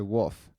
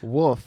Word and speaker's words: wolf: When pronouncing the word wolf, you have to say the L. Woof is a sound a dog makes. A wolf is an actual animal.